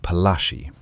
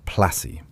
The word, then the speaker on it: Palashi: The place is a small village called Palashi. The English pronounce it Placi.